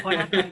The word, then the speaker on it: Jonathan: You can pronounce the J as H. Es igual. Jonathan.